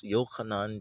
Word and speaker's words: Yochanan: Yochanan, John. No, it's kind of close. But you can't, no, say it right. Yochanan. Put a Y there.